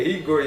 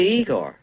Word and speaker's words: Igor: E quando o Corcunda encontra ele, que ele é Igor e Igor, aí você fala, é genial, eu acabei dando risada.